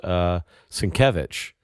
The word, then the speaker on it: Sienkiewicz: I mean, in all fairness, we've only recently been able to correctly pronounce Sienkiewicz. Because, for, 20-odd years, it was Skizwiziziziziziziks.